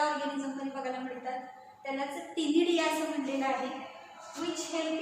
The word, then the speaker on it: ctenidia: Shows numerous gills called as अ टिनिडिया. उच्चार टी पासून करायचं आहे, स्पेलिंग लिहिताना सी पासून लिहायचं आहे, CTENIDIA.